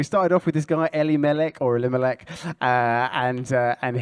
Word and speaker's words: Elimelech: the hebrew testament so how should i pronounce uh elimelech elle melek there you go very different for what i said uh so so we started off with this guy ellie malek or elimelech and uh